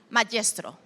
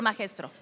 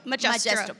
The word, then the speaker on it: Magestro: Magestro. Did I say it right? You did, yep. Or Magestro? No, Magestro.